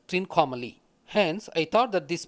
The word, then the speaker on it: Trincomalee: Once I felt that it is triangular, the only place that I could connect Shiva with a triangle is Trikonamalai, which is pronounced in English as Trincomalee.